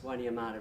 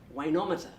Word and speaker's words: Wainuiomata: And Siri, rather interestingly, couldn’t pronounce Wainuiomata very well. And Siri kept saying, ‘Wayne, Wayne-ometer’.